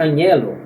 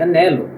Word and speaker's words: anhelo: E também aqui na palavra anelo, do verbo anelar, não se pronuncia anhelo, mas se pronuncia anelo. Eu anelo ser um campeão em meu futuro. Eu desejo ser um campeão no meu futuro. Então, no caso, não pronuncia o H, tá ok?